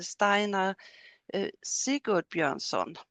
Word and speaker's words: Steinar Sigurbjörnsson: We have Camilla Jönsson and Steinar Sigurbjörnsson. Did I pronounce that right?